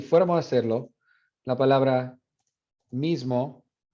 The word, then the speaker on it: mismo: Pero si fuéramos a hacerlo, la palabra mismo, that I would be nasalized because it's between, it's right here next to a nasal consonant there. Not as nasalized as in Portuguese, but some of the air when you pronounce it would escape through your nose.